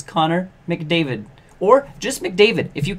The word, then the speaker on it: McDavid: is wrong with you people yeah it's Connor McDavid or just McDavid if you can't remember his